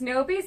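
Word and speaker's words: N0B1S: It's Nobies. It's spelled N0.B1S, just to be unique.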